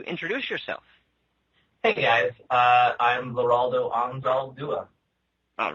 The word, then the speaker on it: Leraldo Anzaldua: Hey guys, I'm Leraldo Anzaldua. All right. And it just makes me happy to know that I've been getting it right this whole time. It's difficult, but it sounds exactly like it's spelled.